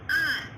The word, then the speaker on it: hour: It is not an hour, it's an hour. So children, in all these words, the first letter H is silent, so we are using an before them.